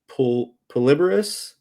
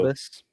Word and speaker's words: Pluribus: because seen as like I forget how to pronounce it. Polyborus, Polyborus, I think it is. Yeah, I don't even know Vince how to say it. Gilligan's new show, Pluribus.